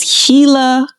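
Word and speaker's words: Gila: community wrong, but I believe that it is Hila Hila River Community.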